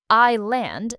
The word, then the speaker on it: island: Word number four, island. This word has a silent s. We don't hear it at all. I land, not ice.